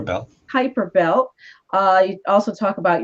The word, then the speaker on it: Kuiper: Did I pronounce? Hyper belt. Kuiper belt.